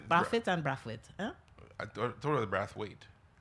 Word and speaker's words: Brathwaite: I'm trying to say it like how he says it, Brathwaite, but it's like I'm hearing how we say it in Trinidad, which is Brathwaite.